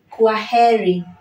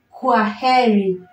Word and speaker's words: kwaheri: a very simple phrase in Swahili which is queri quiry so the word quah means goodbye in Swahili and that's how we we pronounce it query query query which means goodbye so when you're telling